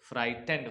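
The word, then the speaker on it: frightened: kick hefty kick the एफ आर आई से होता है फ्राई और जी एच साइलेंट होता है तो बढ़ते हैं टीई एन से टेन फाइटन और ईडी से ड फ्राइटें फ्राइटें का मतलब डरा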